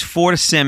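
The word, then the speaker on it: FortiSIEM: a Sim is because for Sim is is f o r t i s i m and we pronounced that last part SIM for to sim even though it's got an e in it yeah so Al alth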